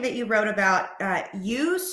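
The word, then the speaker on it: eustress: good the two types of stress are called UST stress and it's spelled EU stress so e s t r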